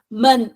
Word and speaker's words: 们: Okay, so 们 is neutral.